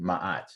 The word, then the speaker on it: Ma'at: And there's a fundamental concept that comes out of African history, Ma'at, and it's spelled M-A-A-T.